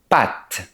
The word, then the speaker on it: pattes: Ils ont quatre pattes en français. De France, ça se prononce comme le mot pâtes. Les pâtes qu'on mange. Par contre, ça s'écrit différemment.